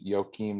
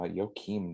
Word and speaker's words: Joakim: probably what last is joakim nope uh yokim noah say it like that joking fifth in